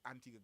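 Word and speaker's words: Antigua: So for example, Yella is a part of Antigga Girls Guides. That's right. That's how it's pronounced, right?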